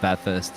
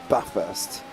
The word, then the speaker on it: Bathurst: I'm gonna show everybody this is how you pronounce this the the Bathurst in Australian that first yes but first it's not bath first anyway actually technically it's actually Mount panorama if